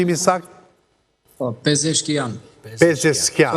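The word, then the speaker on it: Pezeshkian: Si pronunci i saktë? Po pezkian.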